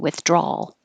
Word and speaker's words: withdrawal: withdraw withdraw and 15 with an l withdrawal and finish with your tongue in the l position withdrawal adversary i had to